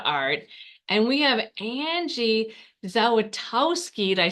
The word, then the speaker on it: Zawistowski: Yeah, the S is in the middle, so you already missed that. It's Zawistowski, but yeah, that's close Say enough. it, your last name? Zawistowski. Zawistowski. I'm sorry, I said it wrong. No, Well, let you're me tell fine. you. It's phonetic.